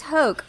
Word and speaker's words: Hoch: It's Hoch.